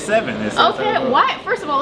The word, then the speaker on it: Sevyn: with Mr seven so I feel like I was pronouncing your name right like yeah it's seven okay what first of